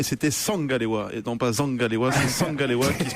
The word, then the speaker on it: Zangalewa: Mais pourquoi on prononcerait bien l'anglais et pas le camerounais n'existe pas d'ailleurs, c'est un dialecte, c'est du bassa, et c'est Zangalewa.